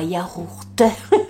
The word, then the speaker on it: yaourt: Donc c'est un yaourt ou un yaourt, ça dépend comment vous prononcez le mot. Moi, je le dis sans prononcer le thé.